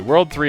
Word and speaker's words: WWW: say is you know as I said World 3 yet it says www World 3 is actually the way the game wants it to be pronounced um cuz I was